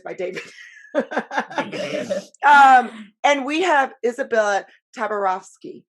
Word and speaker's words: Izabella Tabarovsky: And we have Izabella Tabarovsky. I said that right? Absolutely. Okay. Perfect pronunciation.